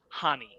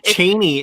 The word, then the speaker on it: Chani: supposed to be pronounced Hani. The C is silent. I learned this. She's Cheney in the audiobook.